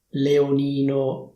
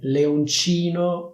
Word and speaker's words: leoncino: Fai attenzione che c'è una C, quindi non è leonino, leonini, è leoncino, leoncini. Per memorizzare meglio questa parola ti do un consiglio, pensa a Capitan Uncino, quindi leoncino fa rima con uncino.